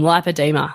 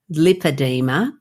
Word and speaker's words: lipoedema: you may know that I'm pronouncing it and you are to me lipoa like lipo suction as opposed to lipedema which you know you're